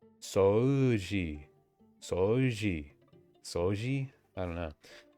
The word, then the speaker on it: 掃除: Yeah, they don't even really pronounce the U. They just say soji, soji. 掃除 Soji. I feel like whenever there's a U and an O next to each other, they just want you to pronounce the O longer.